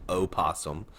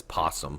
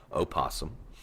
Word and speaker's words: opossum: way it is pronounced opossum there is an o in front of the p everybody always says possum but it is pronounced opossum and of course they